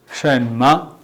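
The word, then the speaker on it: 什么: chinese words within our new words today we pronounce in chinese as shema shen ma try to look on the screen shema shema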